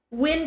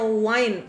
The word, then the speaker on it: wind: Wind itu bukannya wine. Salah. Siapa yang ngajarin? Ini pengucapannya wind. Yang ngomong wind lawan Miss Wina. Let's go. Wind. Oke? Wind. Miss, ada kelas buat IELTS nggak? Belum ada. Bukan wine, yang ngomong wine kita berantem.